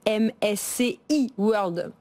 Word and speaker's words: MSCI World: peut pédagogiquement présenter le MSCI World que je vais prononcer à la française pour ceux qui nous écoutent le MSCI World allez disons à la française effectivement donc le MSCI World